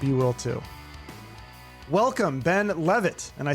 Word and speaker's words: Leavitt: i can't even get mad at people for pronouncing it leave it because it is spelt like that yeah but it is pronounced uh levitt okay perfect so ben levitt social media expert or how what do you